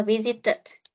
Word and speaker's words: visited: Từ này sẽ đọc là visited. Đôi et này nó sẽ được phát âm là it. Bởi vì trước nó là chữ t và t tức nó là T này.